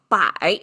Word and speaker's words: 百: explains why does this a hundred okay so by is how it's pronounced simplified traditional looks exactly the same which